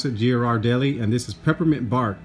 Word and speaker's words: Ghirardelli: it's the American branch so that's how you pronounce that Ghiradelli and this is peppermint bark with other natural